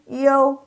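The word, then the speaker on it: 有: Ini you, I dengan U. Kebalikan dari yang tadi wei posisinya. Ini berasal dari I, O, you.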